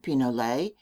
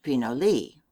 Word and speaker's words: pinole: in mexico it is known as penale spanish pronunciation pinole english pinot lee it is still the